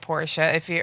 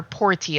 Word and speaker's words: Portia: Yeah, it is very similar to My Time at Porsche. Or Portia, actually, is how they say it.